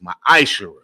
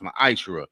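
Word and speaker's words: מעשר: You can find this in Numbers 18:21, Malachi 3:8-10, means 10th in the Hebrew, and it's pronounced ma'ashera. Means a tenth of any of a tenth. It means a tenth in the Hebrew, and it's pronounced ma'ashera.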